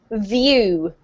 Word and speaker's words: view: The difference between the V and the F is that the F doesn't have any vocalized sound coming out, okay?